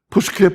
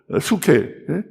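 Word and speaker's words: ψυχή: 푸스케 푸뉴마. 미국 사람들은 그걸 갖다가 이제 자기들 식으로 앞에 풀을 빼버리고 수케, 누마 이러는데, 우리는 뭐 그럴 필요 없습니다. 원래 헬라 사람들이 부르든 발음하는 대로 푸뉴마, 푸스케.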